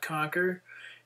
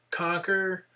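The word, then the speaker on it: Qnqr: find it on uh conquer uh web portal except conquer is spelled Q nqr so it's it's kind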